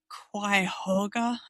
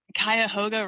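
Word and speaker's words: Cuyahoga: The Quoga River. It's the Kaoga River. Kayahoga River.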